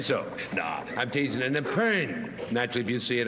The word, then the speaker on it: epergne: If you saw an I think it's Epern.